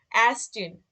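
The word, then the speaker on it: Ärztin: উপরে যখন umlaut থাকবে তখন এর উচ্চারণটা হবে যেমন অ্যারস্টিন, অ্যারস্টিন মানে হচ্ছে ডাক্তার,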